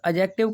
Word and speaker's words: adjective: है एडजेक्टिव नहीं करेंगे क्यों क्योंकि ए और जे के बीच में आपका डी साइलेंट रहता है इसीलिए एडजेक्टिव नहीं एडजेक्टिव